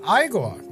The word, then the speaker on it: Igor: Igigore tells Frederick that his name is pronounced Igore, and having gotten the matter pronunciation settled, travel